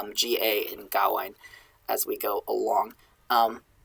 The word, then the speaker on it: Gawain: And we have Gawain, which I think I mistakenly pronounced Gawain. It is pronounced Gawain in a lot of French poetry, but I think when you're alliterated on it, it should be pronounced Gawain.